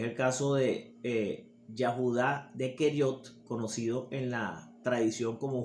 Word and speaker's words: Keriot: Keriot era una ciudad de Judá y Keriot se escribe K-E-R-I-O-T, y también lo podemos encontrar en las escrituras con la letra Q-U-E-R-I-O-T, Keriot.